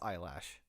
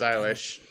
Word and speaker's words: Eilish: My girlfriend it is, insists that it's eyelash. I have no comment on that, Okay. but I'm pretty sure it's Eilish.